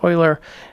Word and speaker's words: Euler: Now an Euler path is, and that's the correct pronunciation, it's not Euler, it's Euler.